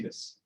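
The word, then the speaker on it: です: Así que esta palabra no va a ser desu, va a ser des.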